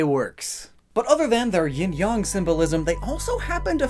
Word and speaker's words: yin-yang: It's yin-yang, if you're being proper. Yin-yang is just the American-esque way of saying it. I'm an American, so like, either way works. But other than their yin-yang symbolism, they also happen